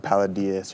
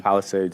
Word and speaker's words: Palisades: whatever the town of paladas or whatever how you ever pronounce it Palisades yeah Palisades and yeah and it's